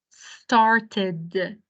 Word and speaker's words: started: Here, the third different pronunciation of ed at the end of the past verb is started. Started, like pause, في عنا وقفة, pause and d. Started.